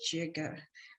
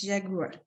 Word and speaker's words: jaguar: The leopard, the jaguar, some people pronounce it jaguar or jaga, but it's jaguar.